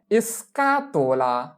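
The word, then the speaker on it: scatola: বক্সকে বলা হয় এসকাতোলা এসকাতোলা।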